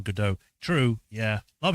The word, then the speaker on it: Godot: I pronounced Godot as Godot for years rather than Godot.